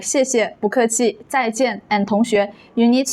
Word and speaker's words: 不客气: When 不 comes before a four-tone syllable, it changes to a second tone, 不. That's why we say 不客气, 不客气.